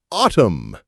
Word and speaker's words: autumn: The trees look beautiful in autumn. Autumn. With a silent N.